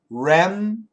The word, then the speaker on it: remnants: R-E-M-N-A-N-T-S. Remnants. We use a schwa pronunciation.